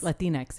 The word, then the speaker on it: Latinx: Latinx, yeah.